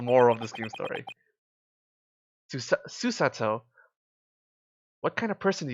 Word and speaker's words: Susato: Susato. Susato. It's really hard to put the inflection on the first syllable.